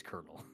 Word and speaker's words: colonel: And then we asked the teacher and it's like it it's it's colonel.